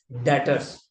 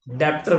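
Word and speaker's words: debtors: डेटर्स डेप्टर मत बोलना। B silent होता है।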